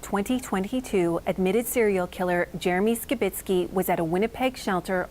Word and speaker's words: Skitz: shelter that he frequented now you might notice that we are pronouncing scit's name differently CBC News has learned through Court proceedings that skitz is in fact the correct pronunciation of his name and the version that we will be using going forward cbc's Atlantic Cole was at